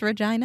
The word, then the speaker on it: Regina: I'm gonna say it was the city of Regina and it's pronounced Regina it's pronounced Regina okay um and it's in